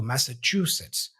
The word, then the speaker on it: Massachusetts: Master true sits so Massachusetts Massachusetts practice each part separately and then join them pay attention to the CH sound as in true visualize the state's name